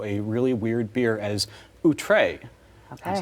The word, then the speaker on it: Outré: So one, thank you for pronouncing it correctly. And I'm wearing the shirt. Yeah. Outré.